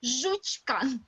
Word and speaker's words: Жучка: Жучка. I'll be the dog. Dog. I'll be the dog. Okay. Nilanjana. Nilanjana will be a dog. Okay. Dog. Her name is Жучка. Everybody repeat after me. Жучка. Жучка.